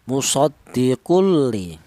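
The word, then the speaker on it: مُصَدِّقٌ لِ: Ya, musoddiqul. Jangan ada dengungnya. Musoddiquun li jangan. Karena apa? Karena tanwin berjumpa dengan huruf lam dibaca idgham bila ghunah. Dibaca idgham tanpa ada suara berdengung.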